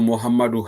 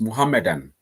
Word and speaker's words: Muhammadan: And it's not, I don't know if nobody even go like for Muhammadu High School, it's Muhammadan. Lambala Sawa book have pronounced no Muhammadan primary school, not Muhammadu.